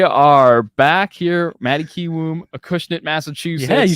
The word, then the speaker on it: Acushnet: all right we are back here Maddie kiwoo Acushnet Massachusetts yeah you said it right that's a